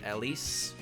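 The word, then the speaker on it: Elis: but I'm aware that Ellie's name is Ellis Ellis e l i s I know how it's pronounced I don't know when it's started happening or why it started happening but I started calling her Ellie and just not acknowledging the s in her name and it got confusing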